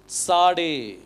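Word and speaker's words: צדי: போடுறேன் ஜைன் போட்டா இதுக்கு இதனுடைய உச்சரிப்பு வந்து சாடே இதுக்கு என்ன சொல்லுவாங்க சாடே இந்த டி எஸ் வந்து இட்ஸ் அப்படிங்கிற சவுண்ட் வரணும் சாடே அப்படின்னு சொல்லி வரணும் சாடே அப்படின்னு சொல்லி வரும் இட்ஸ் சவுண்ட் வரும் சாடே ரைட் சோ பெத்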